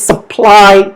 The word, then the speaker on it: supply: Alright, so second is supply chain. Supply chain. Alright, see, supply chain. Ply. The stress is on ply.